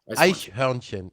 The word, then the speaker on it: Eichhörnchen: Am I pronouncing that correctly? Eishornchen. Eichhörnchen. Almost. Genau.